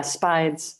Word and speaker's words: Spides: spies spies oh yeah spides spides oh come back sorry like spiders right right right so